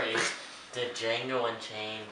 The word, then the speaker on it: Django: My number 4 is the Django Unchained. Yes, I know the D is silent.